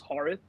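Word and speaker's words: Haarith: too in real life my name is harth h a a r i t h but people for some reason two syllables is too hard so they can't pronounce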